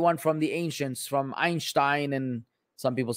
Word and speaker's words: Einstein: you look it up both pronunciations are valid you can say einstein you could say einstein lebanese people say einstein